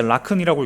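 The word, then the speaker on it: לָכֵן: 이 그러므로라는 단어는요, 원어는 이제 라큰이라고 읽는데 뜻은 그래서, 그러므로라는 것입니다.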